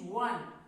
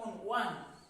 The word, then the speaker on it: won: The pronunciation is won. W-O-N, not own.